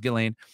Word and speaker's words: Ghislaine: here to talk about uh gelane maxwell or gizlane maxwell whatever you want to say i think it's pronounced gillane uh we're gonna talk